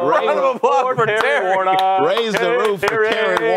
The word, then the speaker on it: Warnock: Warnock.